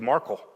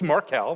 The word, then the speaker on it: Markel: was gonna be talking some of you might have said Marco so not only not heard of you didn't how to pronounce it so it's marquel we've learned that much today but you need